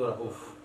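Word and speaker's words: رؤوف: Ahli Hijaz bilang rauf itu rauf. Qala Jarir, tara lil muslimina alaika haqqa ka fi'lil walidir raufir rahim. Nah, bacanya pendek. Walaupun tulisannya begitu, bacanya pendek.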